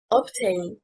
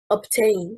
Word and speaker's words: obtain: Obtain, stressing on the first syllable, is incorrect. Obtain, stressing on the second syllable, means to acquire.